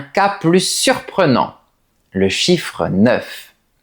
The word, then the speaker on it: neuf: Dans la plupart des cas, la lettre F se prononce normalement. On dit neuf. Par exemple, j'ai neuf pantalons. Il y a neuf oiseaux dans le ciel. Mais il y a des exceptions. Par exemple, ce chiffre se prononce différemment devant les mots an et heure. La lettre F se prononce alors comme un V. Écoute bien. Quentin va avoir neuf ans demain. On a rendez-vous mercredi à 9h.